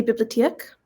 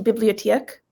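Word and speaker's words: biblioteek: So four syllables. Bibliotheek. I don't know. If I say it fast, it's more of an sound. If I say it slower, it's more of an like O sound.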